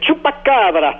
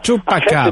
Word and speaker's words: Chupacabra: Le Chupacabra. Chupacabra. En fait, c'est un nom espagnol, une créature mythique qui veut dire en français le suceur de chèvre.